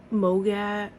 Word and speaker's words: MOGAD: So, but I feel like one thing with MOGAD, or they call it MOG, but it's spelled MOGAD, is that you have